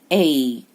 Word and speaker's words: cake: Cake, cake. Again silent E and E gives power to A.